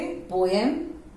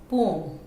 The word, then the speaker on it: poem: Next is POEM। Now this word अभी आप लोग सब बोलोगे पोएम, हमारे मैम पोएम सिखाई है, okay. If you know the correct pronunciation, well and good. इसको कैसे बोलते हैं? पोम, पोम।